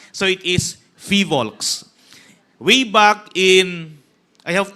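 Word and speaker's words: PHIVOLCS: He began his career at the Philippine Institute of Volcanology and Seismology or Fivol cuz often times people mispronounce this as filox. So it is fivolks way back in I have to state the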